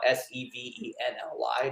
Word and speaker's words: Sevenly: a really great organization it's like seven it's like the num number seven but with an ly at the end but it's spelled out s-e-v-e-n-l-y dot org and you